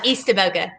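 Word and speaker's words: Eastaboga: okay yeah a-b-o-g-a a-b-o-g-a oh well it looks like esteban okay close easter boca yeah we got it we got to countrify everything yeah so i think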